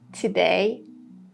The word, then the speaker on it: today: These words starting with TO, in all of them, we have the schwa sound. Today, tomorrow, together, tomato.